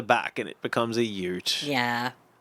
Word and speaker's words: ute: and it becomes a ute. Yeah. It's pronounced Y-O-O-T, it says.